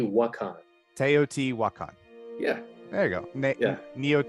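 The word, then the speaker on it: Teotihuacan: ta I'm not going to be able to pronounce it correctly teot T wakan teot wakan yeah there you go neot teot won there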